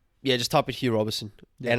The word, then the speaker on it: Roberson: hugh robertson yeah just type it here roberson and it's my last name is spelt r-o-b-e-r-s-o-n there's no i there's no t in it robeson just spell it